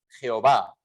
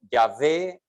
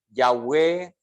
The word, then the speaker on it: Yahvé: que nosotros tenemos en nuestra Biblia representado por Jehová sabemos que históricamente esa pronunciación no es la pronunciación y sin embargo